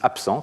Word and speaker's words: absent: Si vous prenez le mot absent, le B qui est dans absent, il est juste à gauche d'une consonne sourde ici, qui est le S, et le résultat, c'est que quand vous prononcez ce mot, vous dites absent, comme s'il y avait un P à la place d'un B.